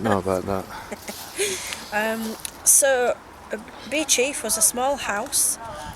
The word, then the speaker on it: Beauchief: and because i've got quite a lot so be chief abyss it's spelt beauchief is a medieval monastic house saving the parish uh church in the southern suburbs of sheffield it's pronounced bee chief so the abbey was founded by rotherham fitzranolf